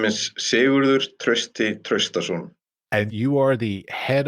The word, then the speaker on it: Sigurður Trausti Traustason: would you please pronounce your name correctly for me? Yes, my name is Sigurður Trausti Traustason.